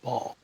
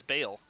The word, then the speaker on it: Bhaal: Bahal or Ball? It so I have Bale. this really well. I have this really nice pronunciation guide here, and it says that it's pronounced ball.